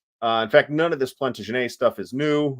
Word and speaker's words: Plantagenet: In fact, none of this Plantagenet stuff is new. Yes, that is how we're pronouncing it because they were French.